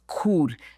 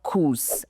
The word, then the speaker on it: cours: The pronunciation is cool, not coos.